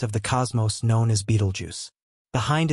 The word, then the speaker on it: Betelgeuse: other a giant of the cosmos known as Beetlejuice behind its Majestic appearance lies a ticking Time